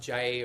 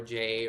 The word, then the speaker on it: Jai: It can be pronounced Jai or Jay or Jai. There are very like subtle nuances, but J, but it's not like J-A-Y. It's not J.